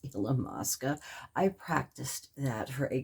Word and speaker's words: Illamasqua: it illamasqua illamasqua highlighter it's not the way i was saying it it is illamasqua i practiced that for